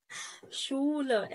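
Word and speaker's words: Schule: يبقى الاس تسي هتعمل لك صوت الشين. عندك كلمة شولة مدرسة قبل ما يفصل شولة اس تسي ها اهي شولة. طب ايه الضمة دي ليه؟ عشان حرف الاو.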